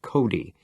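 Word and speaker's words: Cote: On the other hand, there was Mrs. Cody, pronounced Cody.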